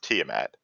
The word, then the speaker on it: Tiamat: pretty well so two things first off it's pronounced Tiamat second Jesus Christ is it is it just